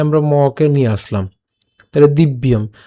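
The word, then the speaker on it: দিব্যম্: এবং এখানে ম আছে যেটি, এখানে আমরা মকে নিয়ে আসলাম, তাহলে দিব্যম।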